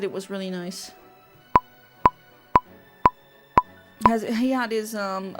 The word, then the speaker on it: Nice: In 2019, I went to Lisbon and Porto, Googled nicest places in France, and it said Annecy. Yeah, I mean, there's a city literally called nice.